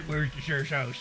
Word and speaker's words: Worcestershire: sauce hey bro give me some of that where's the shirt that's how you pronounce it if you don't pronounce it like